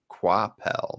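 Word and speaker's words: Coipel: see reuben told the saying it was pronounced quoi pal not quite oh thank you i'll just say that you know i've always called him koipel because that is how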